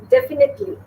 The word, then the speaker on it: definitely: Next is definitely. Definitely. Right? Some people say definitely. It's not definitely. Definitely. Right? Be very soft in it. Definitely. That's 4 syllables.